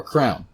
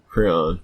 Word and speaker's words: crayon: me ask you guys do you pronounce it crayon or crown Crayola crayon crayon have you ever heard the abomination of people saying it like crown like I remember being